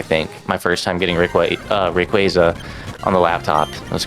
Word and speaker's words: Rayquaza: Rayquaza. I pronounce it Rayquaza.